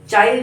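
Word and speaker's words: Chile: यहाँ इसमें एक देश है चाइल और पेरो, मतलब चाइल जो है वो चिली जिसको भी आप कहते हैं, इसको चाइल, कहीं चाइल प्रोनाउंस किया जाता है, कहीं चिली प्रोनाउंस किया जाता है, तो अलग अलग।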